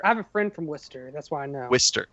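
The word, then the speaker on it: Worcester: studio album by I don't know how to pronounce Worchester Massachusetts wer I have a friend from Wester that's why I know wer my bad from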